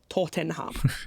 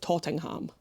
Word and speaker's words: Tottenham: area in London, and it's spelled Tottenham, right? Yeah. But whenever my husband and I discuss that football team, or indeed that area, without fail, we call it Tottenham.